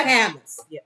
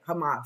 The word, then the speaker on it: Hamas: why because of them because of hamus Hamas Hamas yeah it's GNA be wrong now because you said it wrong they're filming it they're